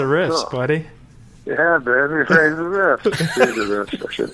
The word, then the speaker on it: Reza: But, you know, I think it throws people off because it's spelled with an E, you know? And you say it like an A.